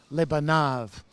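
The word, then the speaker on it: לבניו: The yod means it's plural, and with the final vav suffix, it's pronounced v, lebanav.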